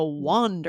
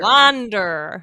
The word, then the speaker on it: wander: this is pronounced wand so similar like to the word on so that on W